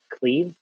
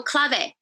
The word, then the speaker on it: clave: Goth cleave or clave? Oh, clave. Clave.